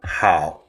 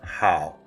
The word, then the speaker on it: 好: Hao is a fusion of 2 characters, nu, representing female, and zi, symbolizing son.